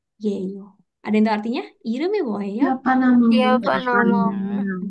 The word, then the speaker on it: 이름이: Saya bacanya kok Iremi bukan Irem I. Nah, sama kayak bahasa Inggris juga sebenarnya ya diseret aja gitu. 이름이 Jangan 뭐예요? Irem I, tapi Iremi.